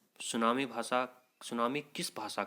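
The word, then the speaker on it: tsunami: पूछ सकते हैं तो टी एस यू एन ए एम आई यहां पर सुनामी की स्पेलिंग होती है ये टी यहां पर साइलेंट रहता है आपको छोटी क्लासों में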